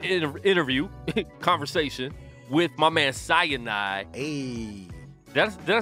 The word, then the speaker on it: Sinai: So, yo, we got a live interview, conversation with my man Sinai. Hey. Did I say his name right? Sinai. Like the mountain. Sinai.